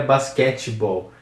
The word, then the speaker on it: Basketball: que duas palavras juntas esse T aqui do do meio é bem mudo não é Basketball então é Basketball próxima palavra é voleibol voleibol